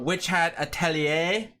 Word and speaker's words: Witch Hat Atelier: We're we're we're talking about witch hatellier which is how it's pronounced. I asked my friend who speaks French.